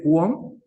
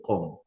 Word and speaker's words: Qom: lengua con lo básico, que no se dice QOM, se dice COM.